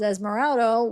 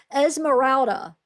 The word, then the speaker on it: Esmeralda: Um, but I'm pretty sure this is Esmeraldo, which Esmer I say it wrong all the time. People get on me. Emeralda. I don't know why my mouth every time I want to say it keeps saying Esmeraldo. Esmeralda. Esmeralda. Sorry.